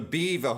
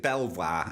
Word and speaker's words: Belvoir: from the blog now I mentioned a while back about the beaver who'll not be even as an animal but I pronounced it Belvoir anyway is called the